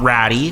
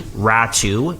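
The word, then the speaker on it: Räty: Atu Ratu, not Ratty, Ratu is the correct pronunciation there, and a conditional 2023 first-round draft pick.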